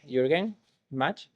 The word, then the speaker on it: Jürgen Gmach: Now we have here the great Jürgen Gmach, and he is a senior software engineer in Canonical, but also the interim engineering manager for the Launchpad project.